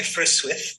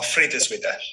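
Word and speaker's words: Frideswide: So commonly Frithswith or Friedeswyd.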